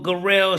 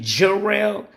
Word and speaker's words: Garelle: encounters with uh what gell Smith I know people say his name Jerel but in that they call him gell cuz it's spelled g a r r uh e l yeah yeah let